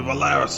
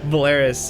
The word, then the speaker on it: Polaris: then my brain's like yes that's how you say it in my brain yeah so Volaris I fixed him I fixed him don't worry I will forget it next week um Polaris uh yeah it is